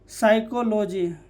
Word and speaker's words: psychology: तो याद रखिए, एस से पहले पी आए तो पी साइलेंट होता है। जैसे साइकोलॉजी, PSYCHOLOGY, साइकोलॉजी, ये हमेशा कहीं पर भी पूछ दिए जाते हैं।